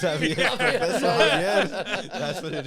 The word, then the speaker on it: Javier: It's Javier.